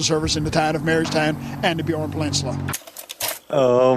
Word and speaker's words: Marystown: him the mayor of Mayorstown. How do you say it? Marystown. The mayor of Marystown. No, it just sounds like you're saying the mayor of Mayorstown, like a town of mayors.